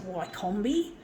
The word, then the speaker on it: Wickham: Like some of the street names where I live, in Camaray and near Neutral Bay, there's a street called Wickham Street, and I pronounce it Wycombe, or Yeo Street, I pronounce it Yeo because it's Y-E-O.